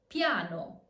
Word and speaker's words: piano: Ya, not a full I, so it's not ia, but ya, as in piano. Piano.